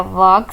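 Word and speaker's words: walk: वॉक slowly, वॉक slowly, इसमें L silent है। वॉक slowly.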